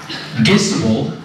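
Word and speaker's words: Gissibl: forerunners uh fritz and peter gisbell rhymes with kissable were the leaders of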